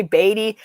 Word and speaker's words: Beatty: she'd been calling me Beatty for so long. Yeah, it's an easy name to pronounce in. So if you could say, you could say Beatty. It's not that difficult.